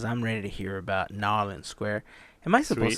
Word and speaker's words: New Orleans: Because I'm ready to hear about Nolans Square. Am I supposed Sweet. to say it like that? Because I've always heard conflicting. It's Nolans.